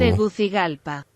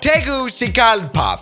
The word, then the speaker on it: Tegucigalpa: How do you pronounce this city right here? Tegu. What is this? Let me ask my friend Google. Tegucigalpa.